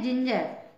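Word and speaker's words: ginger: लेते हैं हम उदाहरण जी आई एन जीई आर जिंजर इसका प्रशन है जिंजर जबक इसमें भी जी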